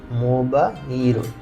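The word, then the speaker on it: モバイル: তারপর মো বা, এই হায়ের উপর যদি তেন থাকে তাহলে এটার উচ্চারণ হবে বা, মো বা ইরো, মোবাইরো।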